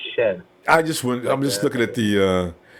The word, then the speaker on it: Shead: You said Shead. I believe it's pronounced Shed.